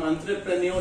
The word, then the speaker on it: entrepreneur: हम एंटरप्रेन्योर, ये थोड़ा प्रोनाउंसिएशन पे ध्यान दीजिएगा, बहुत लोग एंटरप्रेन्योर बोलते हैं जो बोलने में लगता है, एक्चुअली ये फ्रेंच वर्ड है, इसलिए फ्रेंच की प्रोनाउंसिएशन आती है एंटरप्रेन्योर, ठीक है?